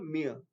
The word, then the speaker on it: mere: और उसके बाद नेक्स्ट वर्ड है ये है, इसकी स्पेलिंग MERE, लेकिन आर साइलेंट है तो इसकी प्रोनाउंसिएशन जो है वो ME होती है, मतलब मेयर।